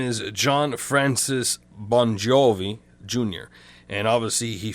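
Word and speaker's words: Bongiovi: And obviously he phonetically spelt it this way so people could pronounce it, because the G and the I is a J in the Italian dialect or Italian language.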